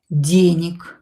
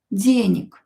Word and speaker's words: денег: This G here will be pronounced as K. Денег, because voiced consonant located at the end of the word will become unvoiced.